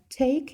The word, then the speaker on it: take: Також читаємо з таким придиханням трошки. Ть, ть, не просто т. Твердо, а м'якенько. Т. Take your time.